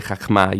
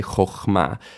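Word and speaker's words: חכמה: And so, and this is true even in Israeli Hebrew today, you don't say chachma, you say chochma. Chochma and korban.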